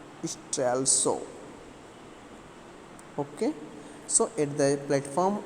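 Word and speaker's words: Strelsau: Okay, what you pronounced it, you can pronounce it Strelso.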